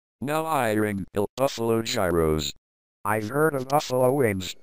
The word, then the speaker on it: gyros: That's pronounced gyros.